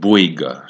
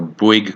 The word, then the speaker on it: Bouygues: So the first one is a company called Bouygues. So Bouygues Construction. So if you guys want to just go and Google Bouygues Construction, it is spelled Bouyges.